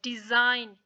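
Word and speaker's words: design: डिजाइन यहां पे देखिए के नहीं पढ़ा जाएगा डिजाइन यहां पे जी साइलेंट है फौरन साइन नेट एलन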